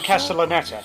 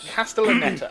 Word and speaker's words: Castellaneta: It's Dan Dan Castellaneta. Castellaneta. Okay. I had problems with that as well Yeah. because I thought of castanets. Yeah. So yeah, Flux is Castellaneta, right? Yeah. Dan Castellaneta.